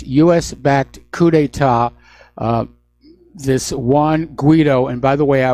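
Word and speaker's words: Guaidó: This Juan Guaido, and by the way, I was sent an email from somebody who says it is pronounced Guido, not Guido.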